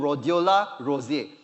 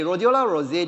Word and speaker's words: Rhodiola rosea: The next one is called, pardon me, I also may not be correct on pronouncing this, called Rhodiola rosea. Okay, Rhodiola rosea, this one in Mandarin is called Hong Jing Tian.